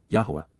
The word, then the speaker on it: Yahowah: Lapana, face to face, approaching the appearance, of Yahowah, Yahowah, the proper pronunciation of the name of Eloah, God as